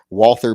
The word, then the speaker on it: Walther: uh walther pistol and don't ever call tell me it's pronounced author because we won the war so we get to determine how the alphabet is pronounced uh if they wanted to be walter they should start it with a v once they lost the